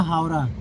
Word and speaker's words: हावड़ा: वैसे इसका actual name जो है ना, प्रोनाउंसिएशन जो है उसकी है हावड़ा।